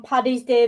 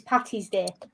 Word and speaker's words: Paddy: Well, I was going to ask, where's everyone stand on Paddy's Day versus Patty's Day? Because I see Americans say this and I get irritated. Is it not Paddy? That's what I've always heard. I've Paddy's. seen Americans say Patty and it drives me crazy.